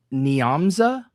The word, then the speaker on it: Nyamza: And the the song I chose um I have a hard time pronouncing her name. It's it's pronounced Nyamza and the song's called Lonely Nights.